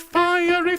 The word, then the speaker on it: fiery: With fiery, fiery horses. Sing that for me. Ready? 3, 4. With fiery, fiery horses. Notice that fiery has 3 syllables, right?